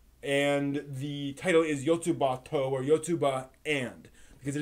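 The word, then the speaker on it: よつばと: That is the technical way you should pronounce it, because it is called Yotsuba ampersand, where in Japanese ampersand is to. And the title is Yotsuba To, or Yotsuba And, because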